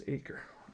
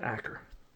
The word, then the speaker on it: Aker: I think it's Aker is how you pronounce his name, not Acker.